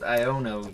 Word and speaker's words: Iono: we have not pulled iono yet now how is that pronounced I I've been pronouncing as i o no because that's phonetically how it is represented I don't I've never